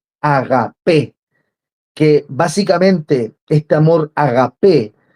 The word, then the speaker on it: agapé: viene del griego agapé agapé viene con el acento en la e agapé que básicamente este amor